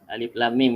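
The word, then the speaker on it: الم: Alif Lam, panjang 6 harakat. Okey. Alif Lam Mim. Mim pun 6 harakat.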